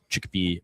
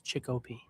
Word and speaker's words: Chicopee: So yeah, Saturday, 2 out of 3 of us headed to Chicopee, Massachusetts for the Northeast Megabucks You tournament. mispronounced it. It's Chicopee.